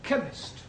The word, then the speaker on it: chemist: on your verbs okay oh yes please spell chemist Oh blank does not begin with a K